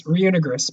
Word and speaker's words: Reunigris: Yeah, so it's Reunigris, by the way. That's the pronunciation. Reunigris is It's like ruin and then gris.